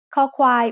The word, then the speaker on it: คอควาย: คอควาย makes the sound k when it's the initial consonant in a syllable. It sounds like the letter K in kite or the C in cup.